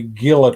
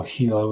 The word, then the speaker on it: Gila: a Gila trout and people look at that and say Gila trout but if I'm not mistaken the G is actually pronounced as an H so Hilo a new area called